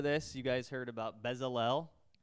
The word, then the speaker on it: Bezalel: you guys heard about bezel-l if that's how you say it he's a guy in the bible bezalel it's hebrew who knows but he's a master